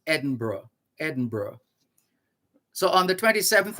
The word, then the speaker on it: Edinburgh: Edinburgh, but pronounced Edinburgh.